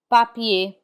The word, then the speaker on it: papier: We do not pronounce the R in IER. Instead, it has the A sound. Papier, papier, which means paper.